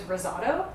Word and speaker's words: risotto: was always taught that the correct way to say risotto is risotto but i always feel a little pretentious saying it that way so i'm making yourself